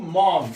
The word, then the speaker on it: mourn: 자, 두 번째는 blessed are those who mourn. mourn이라는 것은요, mourn 애통하다 그런 뜻이에요. 애통하는 거, 슬퍼하는 거, 애통하는 거, mourn이라고 말하면 mourn. 자, 요 발음도요, 우리말로 적으면 이제 mourn이라고 해요. mourn. 오와 아이의 중간 발음이에요. 이것도.